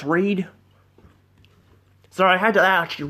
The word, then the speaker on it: Reid: I think it's Reed. It's pronounced Reed.